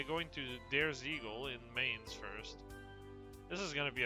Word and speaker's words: Mainz: It's Mainz, not Mainz. Now that I know it's German, I have to correct this in my brain for the proper, like, pronunciation.